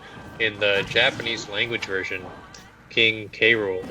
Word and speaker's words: King K. Rool: the japanese language version king k rool is actually pronounced as king cruel oh i did not